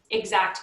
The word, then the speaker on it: IXACT: And the one that I often recommend, I'll just go back here to this slide, is Exact Contact. So that's spelled IXACT.